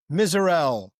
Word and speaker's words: Misurell: Excited to be here today and introduce you to Miserel.